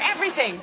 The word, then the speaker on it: everything: 이게 every 입술 물고 every 알 발음 해주고 every. Every. 거기다 혀 나오고 everything.